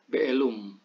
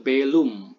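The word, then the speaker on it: bēlum: Dalam bahasa Akkadia kuno itu ada mimation atau pengucapan mim gitu ya. Jadi be'elum atau belum, ini anakku.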